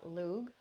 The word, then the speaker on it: Lugh: And the holiday itself, Lughnasadh, is named after the sun god Lugh. That's spelled Lugh.